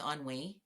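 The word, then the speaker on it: ennui: Are you familiar with onwei?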